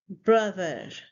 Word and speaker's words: brother: The next word is brother. Brother. So it's a sound here. Again, the sound, and in the end there is soft r sound.